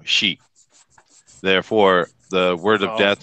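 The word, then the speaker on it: し: in Japan particularly now the number four is uh pronounced she uh but the word for death is also she therefore the word of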